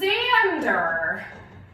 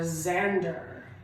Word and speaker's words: Xander: who's worked on Whippersnappers, his name is Xander. With a Z sound, but an X letter. So that's tricky, friends. Remember that sometimes an X can sound like Z, xylophone, xenon, or Xander.